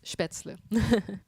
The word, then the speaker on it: Spätzle: Spätzle. How to pronounce Spätzle? It's Spätzle.